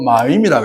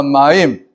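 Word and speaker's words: מים: 물을 갖다가 히브리어로 마임이라 그래요. 마임. 한번 따라해 봅니다. 마임.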